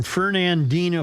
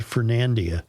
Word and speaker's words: Fernandina: Only because they come to us all the way from Fernandina, Florida. And I was wondering why in God's name was I pronouncing that Fernandia. Fernando. Because I just didn't look at it closely enough.